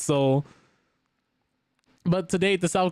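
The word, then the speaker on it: Seoul: And to date, I used to pronounce the Seol until I found out it was Soul for like a very long time until somebody told me like, "No, it's pronounced Soul."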